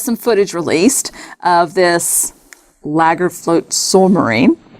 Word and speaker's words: Lagarfljótsormur: It's Lagarfljótsormur. Yeah, look at the word. Very good. Yeah, see, I typed it out phonetically.